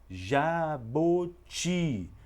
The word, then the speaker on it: jabuti: sílabas já Botti e mesmo sem ter o sinal Agudo Eu percebo que a sílaba mais forte é também a última sílaba Jaboti portanto é também uma